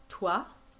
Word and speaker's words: toi: Toi. So toi is like the word voix. Toi. There's a wa in it.